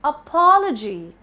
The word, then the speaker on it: apology: No, it's apology. Not apology, but apology. The stress is on pa.